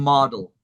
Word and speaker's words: model: So this O has the ah sound, model, Model.